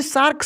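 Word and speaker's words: shark: चाहिए ठीक ना तो यहां पर शार्क सही हो रहा है सार्क नहीं अब जानते हैं की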